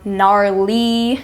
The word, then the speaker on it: gnarly: silent we have the initial GN as in gwing or gnarled or gnarly the g is silent as well we have the initial